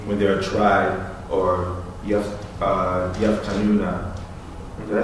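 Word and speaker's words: يفتنون: be a day when they are tried, or yaftanuna. Did I say it right? Yeah. Yaftanuna, or punished or burned over the fire, meaning burning, so meaning like applying fire.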